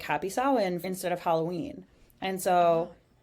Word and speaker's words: Samhain: It's spelled Samhin, but it is pronounced Samhain.